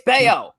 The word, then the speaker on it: Bello: Puerto Rican Brian Bello you know the pronunciation of the Double L there Hernandez Bayo it's Bao get it right you know better all